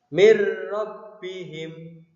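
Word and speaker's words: مِنْ رَبِّهِمْ: Cara membacanya, nun sukun atau tanwin dimasukkan menjadi satu dengan huruf sesudahnya atau ditasydidkan tanpa berdengung. Contoh bacaan idgham bila gunnah. Mir rabbihim, dimasukkan huruf nun sukunnya dimasukkan ke dalam huruf ro tanpa berdengung.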